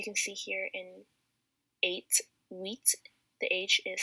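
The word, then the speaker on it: huit: but it's cease seven is sept eight is wheat and nine is nerf so the h as you can see here in eight wheat the age is silent and 10 is not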